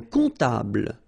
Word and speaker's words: comptable: Un comptable, so OM, remember, it goes like on, alright? And then, strangely, this P is not pronounced.